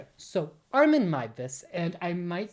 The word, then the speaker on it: Armin Meiwes: a year or two I was calling him Armen Muse instead of Armen Mus, which is how you actually pronounce it.